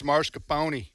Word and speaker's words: mascarpone: I don't have to say pronunciation. Mascarpone anymore incorrectly. But it's mascarpone.